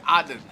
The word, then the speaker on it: Aden: I thought because I want to learn Arabic, so I thought I should pronounce it like Arabic people do and say Aden.